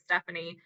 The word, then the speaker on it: Stefani: the rest of life so it's spelled like Stephanie but it's Stephanie um and then my